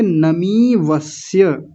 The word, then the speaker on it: नमीवस्य: मकार पर दीर्घ ईकार यानी बड़ी ई की मात्रा, तो क्या बोलेंगे नमीवस्य देह्य नमीवस्य।